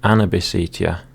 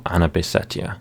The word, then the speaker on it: Anabisetia: There's the two variants, and Anabisetia, or Anabisetia, again both pronunciations pass.